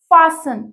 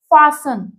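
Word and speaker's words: fasten: our fourth word is फसन इसको हम फास्टनर रहेगा कैसे प्रोनाउंस करेंगे फसन लोज और जॉइन द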